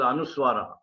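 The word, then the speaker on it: Anusvara: Anuswara, the pronunciation is capital M in English or the half M. It's called Anuswara. That is capital M, not with small m. It will be capital M.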